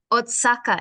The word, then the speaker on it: Oaxaca: It says in the caption, street food in, now this I don't know how to pronounce, Oaxaca in Mexico, I think.